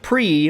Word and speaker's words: prix: do the arkesia grand prix or prix if you read it like i do i know it's pronounced pre i'm going to call